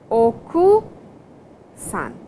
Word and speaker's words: okusan: Ojii-san, Oku-san, and please Oku-san. So, the ku is silent over here.